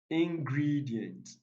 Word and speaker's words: ingredient: on the first syllable ingredient it is stressed on the second syllable aggravate aggravate it stress